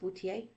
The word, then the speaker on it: Bouthillier: It's a weird last name. It's a French-Canadian name and actually means wine butler, but it's pronounced Bouthillier. Looks like Bouthillier.